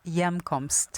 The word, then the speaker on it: Hjemkomst: It's called Hjemkomst. Oh, And it means homecoming. Oh, okay, very cool. And Yeah. it's so you just drop the H sound altogether, and it's got that J. Hjemkomst.